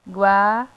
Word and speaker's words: 과: हम सीखने वाले हैं ग्वा एंड वा इट्स प्रोनाउंस लाइक ग्वा एंड वा ग्वा वा तो ग्वा और वा